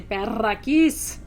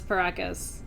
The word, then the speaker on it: Paracas: And my professors would always say, Perraquis. And I would say, no, it's Paracas. My dad just spelled it wrong.